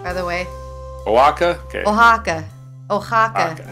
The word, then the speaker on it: Oaxaca: in San Pablo how do you spell up at that province of Mexico it's pronounced Oaxaca how do you pronounce that give me a